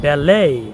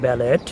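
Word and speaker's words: ballet: যেমন ব্যালে, নট ব্যালেট, গরমে, শ্যালে, র্যাপোর, রিকোকেই।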